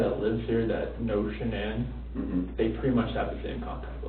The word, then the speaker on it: Shanann: And I don't want to pronounce her name wrong, Shanann? Shanann? Shanann, okay.